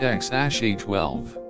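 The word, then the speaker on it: X Æ A-12: its pronunciation and meaning x a a12 is pronounced X a12 the prefix X stands for the unknown and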